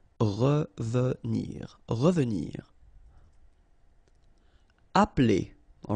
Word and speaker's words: appeler: Appeler, all right, so the funny thing here is that you don't really insist on this okay, so if you listen carefully, it's just like if it wouldn't be here. Appeler, appeler.